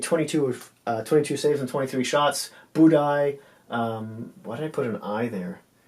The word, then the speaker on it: Budaj: Budaj, why did I put an I there? I know it's pronounced that way, but it's actually spelled with a J. Yeah. Budaj made 15 saves on only 19 shots.